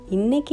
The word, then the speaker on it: Muttai: doll and PUDUKKOTTAI for "Muttai (Egg) Mass" Despite it is spelled as Muttai Mass, the localites pronounce as Mutta Mass Let it be the